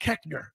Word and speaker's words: Koechner: It's pronounced Koechner. Nowhere in the English language does the OE make the short E sound, except in Tipton, Missouri.